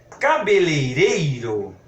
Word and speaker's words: cabeleireiro: é escrito com e cabeleireiro vende cabeleira se cabeleira eu escrevo com cabeleiras quero comer da forma como está escrito aqui cabeleireiro eu preciso repetir cabeleireiro embora da pronúncia no dia a dia nós vamos dizer assim aí eu fui ao